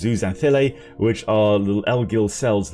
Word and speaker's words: zooxanthellae: I always pronounce it zooxanthellae, but it is zooxanthellae, which are little algal cells living within the coral bodies.